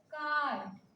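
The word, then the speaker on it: card: जैसे कार्ड, आर के बाद डायरेक्ट कॉन्सोनेंट है, तो जहां पे आर का उच्चारण नहीं होता, आर साइलेंट होता है, वहां पे हम आ को क्या करते हैं, खींचते हैं, बर्ड, बर्ड ऐसा बोलते हैं, बर्ड, बर्ड, आ को खींचते हैं।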